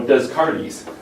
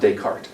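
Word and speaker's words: Descartes: I had students who say well you know desaris um that that makes you sound stupid and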